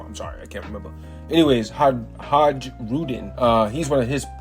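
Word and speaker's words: Hajrudin: Har Hajudin. That's how you say it. I'm sorry, y'all. I'm sorry. I can't remember. Anyways, Haj Hajudin.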